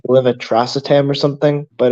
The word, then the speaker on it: levetiracetam: It's pronounced like levetiracetam or something, but it's Keppra.